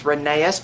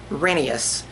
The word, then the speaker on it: Rheneas: I always thought it was Rheneas, but after hearing some of the audio where people recorded the books for tapes and radio and stuff like that, it's actually pronounced Rheneas.